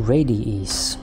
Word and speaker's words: Radiis: welcome to radius at least that's how I assume it's pronounced as a kind of a variety to radius so first of all